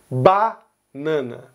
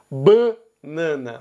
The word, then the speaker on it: banana: Minas Gerais e Goiás pronunciam o primeiro A da palavra banana aberto. Então, banana. Já os estados do Nordeste, Bahia, Pernambuco e Ceará vão pronunciar ele fechado. Então, fala banana.